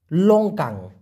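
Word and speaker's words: longkang: লাউট clear ব্যাপারটা এবার কি বলা যেতে পারে লঙ্কাং এল ও এন জি কে এন জি লঙ্কাং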